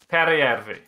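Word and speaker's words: Peräjärvi: Periyavi.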